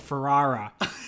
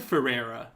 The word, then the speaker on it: Ferrara: the mid-90s, and Conan O'Brien said Ferrara. Did he? So I think that's how it's pronounced. Ferrara. But I've always said Ferrera.